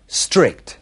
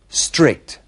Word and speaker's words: strict: Strict. Comienza directamente por una S y a los españoles les cuesta mucho pronunciar esta S inicial. Strict.